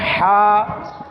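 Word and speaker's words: ح: সেগুলোর মধ্যে মনে করেন হা আইন হা আইন এটা হচ্ছে হলকের কণ্ঠালি চেপে উচ্চারণ করতে হয় মধ্যখানের অংশ থেকে চেপে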